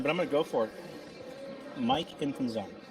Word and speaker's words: Infanzon: Mike Infanzon. Infanzon. Infanzon. Okay, so it's the A. Okay, that's the part I got to work on. It's pronounced the way it's spelled.